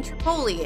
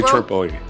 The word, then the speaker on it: Tripoli: That summer, Tripoli, say Tripoli. Tripoli. Tripoli, that's how you say it. Tripoli. But no, I feel like it's supposed to be Tripoli because Poli is Greece Greek for city.